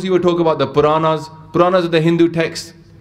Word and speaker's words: Puran: Those who will talk about the Puranas. Puranas are the Hindu texts. There's many Hindu texts. There's Puranas, there's Kate, there's Shastra, Simritis, Veds. So this is one version, but it's rhymes with the word Quran.